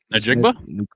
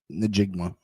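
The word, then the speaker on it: Njigba: Najigba? Najigma. Yep. Najigba.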